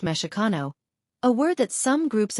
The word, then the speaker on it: Mexica: There are a few theories about the origins of chano, including that it comes from Mexico, pronounced meshano, a word that some groups of nawas, indigenous